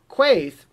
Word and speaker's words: Quaithe: expect third we've got case or maybe she was second eye King was third quaithe or case depending on the pronunciation said a few things